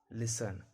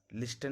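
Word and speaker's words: listen: तो टी का उच्चारण नहीं करेंगे। इसको पढ़ा था ऑफेन वॉच लिसन लिस्टन नहीं बोलेंगे।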